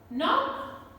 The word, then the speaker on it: knock: K is silent. Knee, knock, know, knowledge, need, knickers, not.